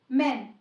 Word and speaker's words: men: पेन, जो ए की short sound होती है, पेन, जैसे मैन। देखिए, जब हम मैन लिखते हैं MAN तो हम इसको प्रोनाउंस करते हैं मैन।